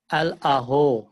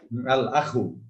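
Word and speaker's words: الأخ: আদ্দিফতারু আদফতারু আদফতারু হুম আল আহো আল আখু আল আহো আল আখু আল আহো হুম আপনার বাড়ি চাঁদগাঁও চট্টগ্রামের লোক জি স্যার খ উচ্চারণের সমস্যা আল আখু আল আখু আবার বলেন আল আখু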